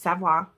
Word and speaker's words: savoir: to those savoir sisters that is how you pronounce it i'm just telling you it's savoir um and he asked